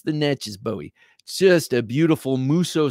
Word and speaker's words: Natchez: Now I'm saying Natchez now because someone, excuse me, helpfully told me how to say it. I've been saying Natchez and that is sounding like a total yank, trying to not sound like a yank, I guess, but it's Natchez.